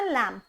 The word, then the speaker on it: lamb: यहाँ पे बी की साउंड जो है वो क्या है जी, साइलेंट। मीन्स टू से आपने इसको बोलना लैम।